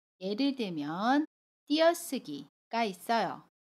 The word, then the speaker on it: 띄어쓰기: 예를 들면 띄어쓰기가 있어요. 자음 쌍디귿과 모음 의가 만났지요. 그래서 띄어쓰기 라고 발음해요.